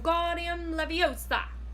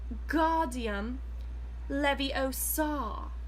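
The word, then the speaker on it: Wingardium Leviosa: much more luck I'm Guardian Leviosa he shouted waving his long arms like a windmill you're saying it wrong Harry hurts Hermione snap its wing Guardian Leviosa make the GAR nice and long you do it then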